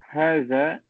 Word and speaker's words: هذا: Man haza, who is this? Note, haza is pronounced haza, but it is written without the first alif.